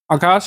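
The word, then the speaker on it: Akasa: Indigo Vistara spice जेट और आकाशा एयर यह शामिल हो गया है। इसको आकाश वैसे बोलते हैं लेकिन इसकी स्पेलिंग वैसे यही होती है। ए के एस ए आगे प्रश्न है निम्नलिखित में से कौन सा कथन सही है?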